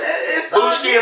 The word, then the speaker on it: Booski: You gotta spell it BOOSKI. I know that's like, that sound like booski, like skiing, but Booshki and Booshki, that's how we pronounce it.